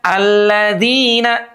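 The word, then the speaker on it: الذين: Sirathalladzina ladzina alladzina. Huruf zal nih teman-teman yang kelima ya. Huruf dalnya dipastikan tidak berubah bunyinya menjadi zi. Tidak. Siratalladzina an'amta alaihim. Bukan ladzina.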